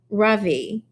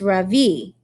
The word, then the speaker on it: Ravi: voice quivering a little my name is not ravi it's pronounced ravi she looks at me